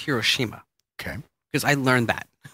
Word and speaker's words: Hiroshima: order to get to Hiroshima okay we say hoshima yes it's not the proper it's Hiroshima okay because I learn that okay did you